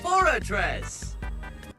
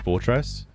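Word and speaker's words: Forretress: I was saying this one wrong growing up. I always said fortress. Uh I wasn't until I think I watched the anime um where like Brock has like a forress and he and he says it that way. I was very wrong on this one.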